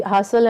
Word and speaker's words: hustle: It should be hustle and bustle. So here the T is silent.